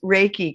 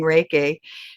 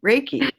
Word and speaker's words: Reiki: now I'm just like oh it rhymes with Jakey Reiki all right I got